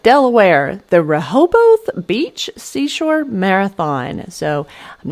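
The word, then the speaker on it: Rehoboth: All right, Delaware, the Raoboth Beach Seashore Marathon. So I'm not sure if I'm pronouncing that exactly correctly, but I'm sure somebody will correct me if I'm not. Rahoboth.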